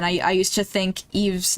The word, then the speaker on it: Eve: Oh gosh, that's not as bad as um again, I I used to think Eve's name was pronounced Ives.